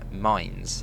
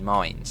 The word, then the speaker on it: Mainz: be going over to Mainz. I believe that's how you pronounce it from the comments I've had, Mainz, like Mainz.